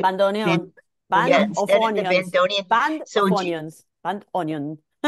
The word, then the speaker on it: bandoneon: And so instead of the bandonin, how do you say it? Bandoneon.